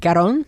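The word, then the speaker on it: Cuarón: I watched a YouTube video of how to pronounce his name. Alfonso Quaron. Quaron Karon.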